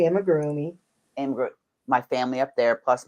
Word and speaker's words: amigurumi: And I have my amigurumi or amigurumi, however you want to pronounce it. I say amigurumi.